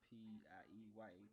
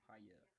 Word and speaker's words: Piaa: My name is Paya. Piaa. It's pronounced Pieya. Paya.